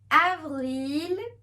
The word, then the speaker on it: avril: known as Mars must April is known as Avril it will have the a sound Evergreen me is known